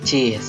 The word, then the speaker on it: cis: Jadi apabila ada suatu huruf atau suatu nada diberi tanda crest, dibacanya diakhiri dengan kata is ya. C jadi cis, D dis, F fis, dan seterusnya.